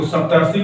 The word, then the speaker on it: सप्तर्षि: री मिलके अर बनेगा, तो अर का उच्चारण देखिए इसमें आना चाहिए संधि में कहीं न कहीं, तो सप्तर्षि को पढ़ेंगे तो सप्त प्लस ऋषि, सप्तर्षि, सप्तर्षि, अर देखिए आ जाएगा सप्तर्षि।